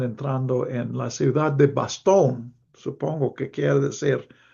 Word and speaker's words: Bastogne: en la ciudad de Bastogne, supongo que quiere decir, es francés, se escribe con GN, pero supongo que quiere decir Bastogne.